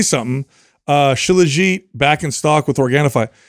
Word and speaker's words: shilajit: ever hey I want to say something uh shilajit back in stock with organifi that that blew